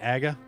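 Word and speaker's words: Agahnim: Most people at this point just say Aga, Okay. but I think I pronounced it like Agnim. Okay. I always said Aghanim as a kid.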